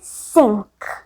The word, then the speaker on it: cinq: ठीक है, अब 5th वर्ड जो कि 5 हुआ इंग्लिश में, और 5 को बोलते हैं फ्रेंच में सिंक, सिंक।